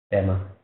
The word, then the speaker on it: Pema: Now Tibetans pronounce it Pema. Method the pronunciation is degenerate, changed a little bit. It became now as a Tibetan word. So Pema.